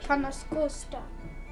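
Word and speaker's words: Ca' Nascosta: To Canas Costa, which is where she Canas Costa. That's how it's pronounced.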